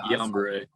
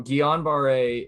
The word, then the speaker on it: Guillain-Barré: Guillain-Barré.